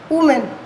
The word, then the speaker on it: woman: Student ध्यान दीजिएगा, WOMAN इसको हम प्रोनाउंस करते हैं वुमेन. और इसी का अगर हम प्लूरल की बात करें कि इसका प्लूरल बनता है वीमेन. क्या बोलते हैं इसको, वीमेन और वुमेन.